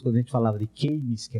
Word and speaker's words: Keynes: O Roberto Campos sempre fazia questão de corrigir a pronúncia das pessoas. Quando a gente falava de Keynes, que é como no Brasil se chama, ele dizia, não é Keynes, é Keynes.